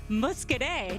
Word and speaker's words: Muscadet: And it's just so fun to say, Muscadet. Did I say it right? That's right, that's right.